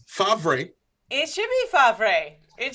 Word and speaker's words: Favre: It's spelled Favre. Oh, that's what we're talking about? But you say Favre, which, by the way, is one of the goofiest things you could possibly say. It's Favre.